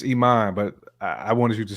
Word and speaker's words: Iman: was again what what is it really it's Iman but I wanted you to say what you